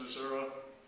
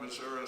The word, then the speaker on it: Missouri: on the USS Missouri, and I'm from Missouri, so I pronounce it that way instead of Missouri, but was called in